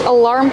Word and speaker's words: alarm: We see the word alarm has two syllables. The first one is relax. Uh uh like cup and up. Uh uh alarm. Put the stress on the second syllable, making the R sound like bar and car.